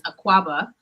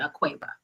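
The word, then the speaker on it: Akuaba: name and uh welcome uh the uh actual pronunciation is aquaba um when you go to night uh to Ghana but uh I pronounce it a Cueva okay okay so have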